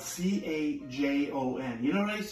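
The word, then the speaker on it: cajón: This is called a cajon. Everybody say cajon. Cajon. It's spelled C-A-J-O-N. You know what I used to say? I thought it was a Cajun.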